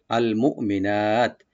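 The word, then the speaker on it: المؤمنات: আল মুমিনাত, এটা হামজাটাকে রাইট দিব কিন্তু কলকলা হবে না, খেয়াল রাখবেন।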